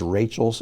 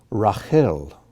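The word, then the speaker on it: רחל: the sufficient one leia leia which who was rachel's sister one of jacob's wives lavon or in our bibles it may be spelled out laban rahel or rachel asav or esau dinah or dinah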